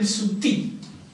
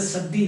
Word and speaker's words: Sati: In fact, the British, they spelled it Sutti. Yes, S-U-T-T-W, Sutti. They spelled it Sutti. They could not pronounce it Sati, no? So they Sutti.